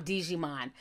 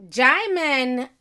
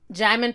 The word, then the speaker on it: Djimon: is next to come Digimon but the D is silent it's German Hounsou i'ma